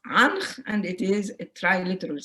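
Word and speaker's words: ankh: The very famous key of life that everybody knows is pronounced anch, and it is a triliteral sign.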